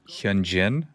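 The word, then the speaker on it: Hyunjin: I'm gonna say I'm going to pronounce his name wrong. Is it Hyan Jin?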